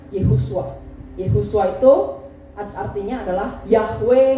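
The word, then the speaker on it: ישוע: Dari bahasa Ibrani, Yesus itu bacanya Yehusua.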